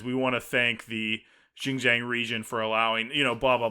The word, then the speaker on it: Xinjiang: filming took place in the autonomous region of Xinjiang, or I think that's how you say it, Xinjiang, where human rights abuse are taking place.